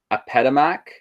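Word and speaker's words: Apedemak: So first off, with their religion, they have this really cool lion god that they worshipped, and I think it is pronounced Apetamak, is going to be the lion god right there, and it was a warrior god.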